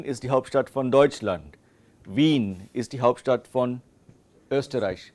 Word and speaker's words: Wien: A very important distinction while speaking is a combination of vowels IE and EI. Okay, and there's a very distinct difference in German. IE, like Wien.